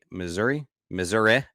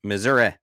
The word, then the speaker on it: Missouri: City, Missouri, I guess, as some people pronounce it. I don't think anyone actually pronounces it that way. But when I went to when in journalism school and Associated Press style guide, that's how they guided us, how they instructed us to pronounce it, Missouri. No one ever says that though.